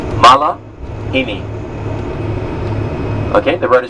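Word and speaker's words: malihini: Malahini. Syllables? 4. Malahini.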